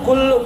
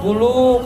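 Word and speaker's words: كُلُّ: percaya itu tadi ayatnya dibaca kullu nafsinqatul ya dibacanya kullu pakai tasdid bukan kulu kalau klu artinya makan kullu nafsin zaqatul tiap-tiap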